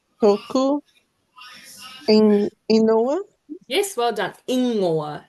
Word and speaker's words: ingoa: Ingoa. It's like Inoa. ingoa.